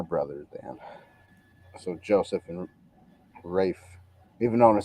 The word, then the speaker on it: Ralph: and I'm looking up, and Ralph is pronounced Rafe. So it's his Yeah, first name. yeah, that's Yeah, the it's first. to rhyme with safe.